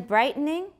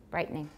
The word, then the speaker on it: brightening: And then brightening, that's how many? That's three, but how about brightening? Brightening. Sounds like two.